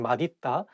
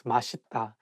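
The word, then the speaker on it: 맛있다: um it's okay because even some Korean people sometimes just by mistakes in Malita but actually the correct pronunciation is mashita so you can say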